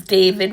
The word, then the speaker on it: D4vd: It says singer David but he spells it D4 V D and his actual name is David which is spelled the correct way D A V I D.